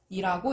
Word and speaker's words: 여덟: 보통은 단어의 끝이나 자음 앞에서 리을로 소리 나게 됩니다. 3번의 여덟은 단어의 끝에 3번의 여덟은 단어의 끝에 리을 비읍이 오면서 리을로 발음이 되니까 여덟이라고 읽습니다.